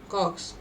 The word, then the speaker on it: kwargs: Arg means non-keyword arguments, which spells as ARGS, and KWARGS, cogs, is pronounced as cogs, and its full form is keyword arguments.